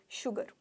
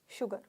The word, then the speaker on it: शुगर: भी बोल सकते हैं एस को हम श भी बोल सकते हैं ठीक है एस के ठीक आगे एच नहीं आता पर उच्चारण स होता है एग्जांपल लिख रखा है यहां पर शुगर शुगर शुगर अब आप अगर